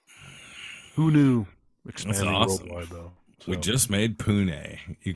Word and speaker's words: Pune: like Portland or something it's p-u-n-e how do you pronounce that in India Pune India it is probably Pune I would say so